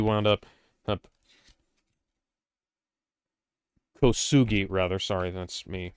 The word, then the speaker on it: Kosugi: Yeah, Shokusagi wound up Kosugi, rather. Sorry, that's me mispronouncing his name.